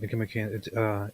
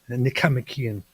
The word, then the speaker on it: Nicomachean: You said it wrong though. You said Nicomachean. You're supposed to say Nicomachean.